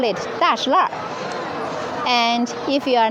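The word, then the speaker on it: 大栅栏: am the native Beijing nurse I call it dashl so according to the pronunciation we have we can recognize if uh this person is the local people or from the other provinces.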